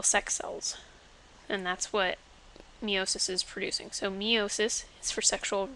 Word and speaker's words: meiosis: do with meiosis well it's an e sound so you get meiosis it's for sexual reproduction